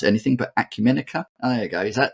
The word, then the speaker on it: Acumenica: from I probably will mispronounce this because I mispronounce anything but Acumen there you go is that is that how